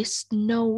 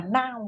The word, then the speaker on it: snow: Cái chữ snow á, từ nó là âm ồ, có tuyết. Được từ hà. Rồi chị nhìn hết. Nãy em đọc là now đúng không?